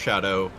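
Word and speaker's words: Scadu: Yeah, so, and yes, it may look like it says Skadu fragments, but it's actually Old English. Yes, that is just pronounced Shadow.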